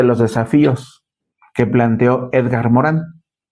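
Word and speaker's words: Morin: tenido la UNESCO llamado Edgar Morán, se escribe Morín porque es de origen francés.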